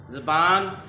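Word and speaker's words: زبان: जी प्यारे बच्चों, ये मैंने दो वर्ड्स लिखे हुए हैं, ज़बान और ज़ुबान, ज़बान और ज़ुबान। इनमें से कौन सा दुरुस्त है? जी बताइए ज़रा। ये जे की ज़बर के साथ है एक, ये वाला, और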